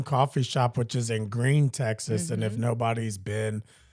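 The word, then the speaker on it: Gruene: Shop, which is in Green, Texas. And if nobody's been to Green, it's spelled Grune, which I wonder how people even say that if they don't know that.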